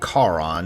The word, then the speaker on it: Charon: Meeting up with Charon, and yes, I pronounce it that way because I don't think the Ferryman of the Dead should be compared to a lady in a bad haircut that wants to speak to my manager.